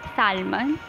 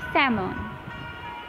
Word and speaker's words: salmon: It's not salmon, it's salmon.